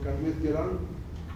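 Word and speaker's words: Calmette-Guérin: Es un liofilizado de este bacilo, ahí se puede leer cómo se escribe el bacilo Carmet-Guerin, así se pronuncia, es francés, ¿no?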